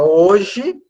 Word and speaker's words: hoje: aparecer então por exemplo a palavra hoje na palavra hoje nós temos quatro letras e ter a um h que é mudo Então a gente vai